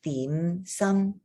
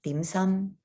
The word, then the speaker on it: 點心: And I know in English they call it dim sum, but if you wanted to pronounce it properly, it's your mid-rising dim sum, dim sum.